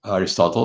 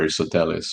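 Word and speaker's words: Αριστοτέλης: the west and Aris Aristotle or Aristotellis which is in the Greek.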